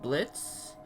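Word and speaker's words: Blitzø: their leader, apparently named Blitz, though I also heard versions where he has an O at the end, and that he claims the O is silent, got into a firefight with a circus droid.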